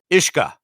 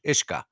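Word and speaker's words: uisce: Ishka. Yeah. Ish-K Ah. Ishka. The U is silent. Yeah. It's Gaelic Irish. It means water. The U is silent and the S is pronounced like a shh in ship.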